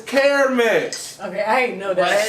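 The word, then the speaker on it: Carmex: nobody seems to know there's no such thing as car mix what you're putting on your lips is care mix okay i ain't know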